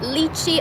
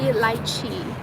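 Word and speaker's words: lychee: So yeah, I know some people call it lii. I'm like no ma'am. No sir, no ma'am. It's lichi.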